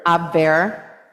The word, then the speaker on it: Abwehr: And then Tom, how do you pronounce that? Abwehr.